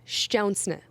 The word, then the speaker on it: Szczesny: And yes, it's pronounced Szczesny. I'm Polish. I know the spelling is insane. To say it is insane. There are like 600 Z's in his last name, but that is the correct pronunciation.